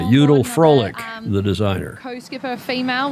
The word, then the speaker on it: Judel: got to tell Peter it's Judel Froelich. A V in German is pronounced like an F, and the J is pronounced like a Y. Judel Froelich, the designer.